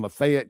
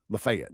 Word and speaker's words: Lafayette: Lafayette, not Fayette. Lafayette County. Or is it Lafayette or Lafayette? For me, it's Lafayette. But I think they pronounce it Lafayette up there.